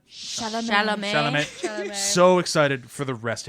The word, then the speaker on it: Chalamet: How do you pronounce it? Chalamet? Chalamet.